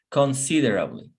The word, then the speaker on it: considerably: Here is the stronger syllable, considerably.